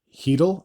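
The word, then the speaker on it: Chytil: the middle frame Philip heel I believe is how you pronounced his name I've been saying cheel this the whole time but I believe that c is uh silent would get his fifth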